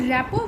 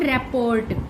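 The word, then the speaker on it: rapport: Who established a good रैपो with his students. रैपो, this word is नॉट रैपोर्ट, this is रैपो. Okay, RT silent होते हैं.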